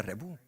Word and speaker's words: Rebouc: Rebuc se escribe Rebouc y se pronuncia Rebuc.